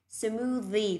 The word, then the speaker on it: smoothie: Smoothie, thò lưỡi ra ngoài, âm này là âm the, ok chưa ạ?